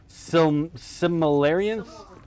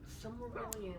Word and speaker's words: Silmarillion: Similarian? Cimmerillion? Did I say it right? Silmarillion.